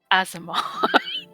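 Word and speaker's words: aasimar: into a fantasy microphone it's pronounced azamar sorry the first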